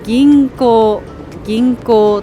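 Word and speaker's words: 銀行: この漢字は銀行と読みます。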